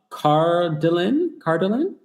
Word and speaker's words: Cardilin: Cardilin, is that how you pronounce it? Yes, that's how you pronounce it. I'm a first-time caller. Hey, Cardilin.